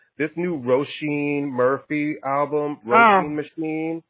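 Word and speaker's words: Róisín: This new Roisin Murphy album, Roisin Machine. How do you pronounce it?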